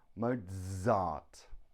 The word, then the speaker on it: Mozart: we have sila phone zebra Mozart it's the Z sound cool two reasons why